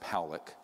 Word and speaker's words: Pock: 600,000 views this man William Pock is pronounced poic uh was a man